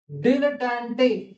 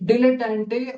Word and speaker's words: dilettante: Then we have sycophancy, sycophancy, this is the pronunciation. Sycophantic, sycophantic. Diaphanous, diaphanous. Dilettante, dilettante or dilettante, and this is dilettantism.